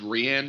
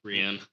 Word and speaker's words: Rian: Rian. I thought it was Rian. It's spelled Rian, spelled but I guess it's R-I-N. Ryan. Yeah, it's Ryan.